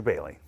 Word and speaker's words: Boehly: technically pronounced more Bailey than Boehly.